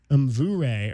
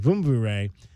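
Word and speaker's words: Mvumvure: So the sprints under Coach Gabu, if you missed our interview with Coach Gabriel Mvure, or Vumvure, I should say, M is silent, Vumvure, head on over right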